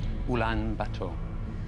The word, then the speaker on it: Ulaanbaatar: Ulaanbaatar. Well pronounced, that's right.